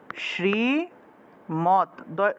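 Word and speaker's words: শ্রীমদ্: তৎ অর্থাৎ শ্রীমত অর্থাৎ দ এর নিচে যদি হসন্ত থাকে সেটাকে তৎ হসন্তত হিসেবে উচ্চারণ করা হবে ত এর নিচে যদি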